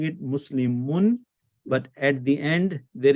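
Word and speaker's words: مسلمٌ: But if you expand it, this is what it means. Muslimu, Nun Sakin. How do you pronounce this? Muslimun. Yes. Muslimun. Yes. So because of these 2 signs, you have to add the noon at the end.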